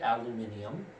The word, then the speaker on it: aluminium: the world in the uk that would be aluminium uh there also are other elements that um